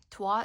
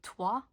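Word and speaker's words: trois: TW is the same thing as well. Don't pronounce the S. And the O and the I here makes a W sound. So TW and cat don't pronounce the E.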